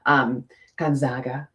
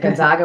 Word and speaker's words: Gonzaga: very big, fancy school, Gonzaga. She went to, is it Gonzaga or Gonzaga? Because I said it wrong. I said it Gonzaga, and she's like, it's Zaga.